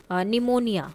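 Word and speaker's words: pneumonia: यह पी नहीं आएगा डेबरी निमोनिया पी साइलेंट हो गया आम आलमंड्स एल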